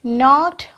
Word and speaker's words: knock: Okay, so K is needed here or not? Yes, we have to write K here.